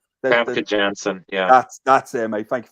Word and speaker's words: Famke Janssen: Frankie Jasmine or Jasmine or whatever how you pronounce the name. The Famke Janssen.